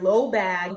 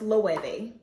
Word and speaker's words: Loewe: to an event and compliment someone on their low bag. Come to find out, it's actually pronounced loewe.